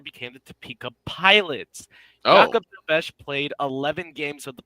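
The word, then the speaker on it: Jakub Dobeš: lost because Jakob Dobesh was in net, yeah.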